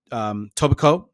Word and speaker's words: Etobicoke: And then Etobicoke, that's how it's pronounced.